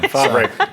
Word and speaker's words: Favre: Favre, and I even knew how to say it.